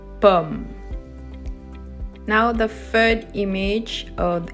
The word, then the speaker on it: pomme: We say pomme. We don't say pomme, okay? Don't pronounce the E at the end. It's just pomme, pomme.